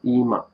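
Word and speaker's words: 今: uh now ema that's now ima eem and then later so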